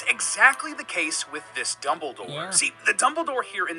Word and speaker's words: Dumbledore: Surprisingly, one of the harder ones to find is actually Dumbledore. It's pronounced Dumbledore. Sorry, Dumbledore.